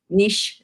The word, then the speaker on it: niche: even in my niche niche is how you say it they weren't however yeah